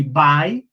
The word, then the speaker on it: by: We can also say by, que se pronuncia igual que adiós, pero se escribe solamente B-Y, B-Y, by.